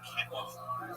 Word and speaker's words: quinoa: It's some quinoa.